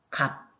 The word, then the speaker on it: 값: 으탈락으로 여러분들이 생각하시면 됩니다 예를 들어서 값 요것도 비읍 시옷이 있지만 발음할 때는 시옷이 탈락이 되죠 이렇게 음절의 끝에 자음이